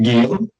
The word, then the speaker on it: Guillaume: Guillaume.